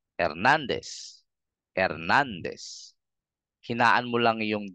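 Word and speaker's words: Hernández: pantay-pantay lang din sila so para mapalitaw mo yung emphasis bigkasin mo ng mas madiin or mas malakas ng konti yung syllable na nandon yung tilde so you can say Hernandez Hernandez Hernandez hinaan mo lang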